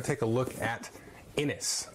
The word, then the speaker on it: Inis: Today we're going to take a look at Innis, or I think it's pronounced Innish.